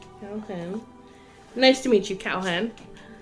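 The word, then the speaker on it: Kalhen: He puts his hand out for you to shake, and he's like, I'm Calhen, which is spelled Kal-HEN. Calhen.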